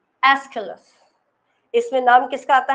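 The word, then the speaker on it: Aeschylus: तो हम उसमें सबसे पहला नाम आता है एस्काइलस। एस्किलस, इसमें नाम किसका आता है? एस्किलस। एस्किलस की स्पेलिंग LUS करना, ठीक है?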